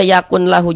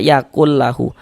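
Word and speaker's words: يَكُنْ لَهُ: Jadi bunyi nun sukun ini jangan dibaca yaakun lahu. Jangan. Tapi dibaca yaakl lahu. Masuk ke dalam huruf lamnya. Yaakl yaaklu.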